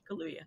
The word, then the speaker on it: Kaluuya: And it's a shame that Daniel Kaluuya, I think is how you pronounce it, right? Yeah, Kaluuya.